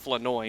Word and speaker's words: Flournoy: With the caveat that Flanoy, which we have found out here at training camp, that it is pronounced Flanoy, Yeah, not silent Flournoy.